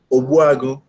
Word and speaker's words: Ogbuagu: So my name is Ogbuagu.